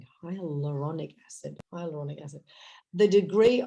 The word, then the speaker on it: hyaluronic: just told us was also hyaluric high I can I never could pronounce it hyaluronic there you go hyaluronic acid the